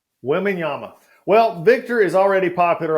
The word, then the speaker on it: Wembanyama: How do you pronounce his last name? Victor Wembanyama. Wembanyama.